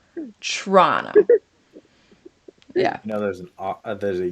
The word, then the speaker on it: Toronto: So it's Toronto. Toronto. And it's like a CH. It's not even T. It's CHR. It's Toronto. Like churro. Toronto.